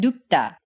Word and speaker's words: 눕다: Like in the word 눕다, In a case like this, the first syllable will end with an unreleased P sound, as in nu, and the second syllable, even though it's written with a lax T sound, 다, is pronounced tense. as in 따. So you get 눕다 instead of 눕다.